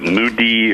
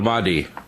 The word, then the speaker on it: Mahdi: I always mispronounce it. Mudi or... the Mahdi.